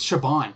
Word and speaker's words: Shaban: okay, it's Shaban, actually. That's how you pronounce her name, is Shaban.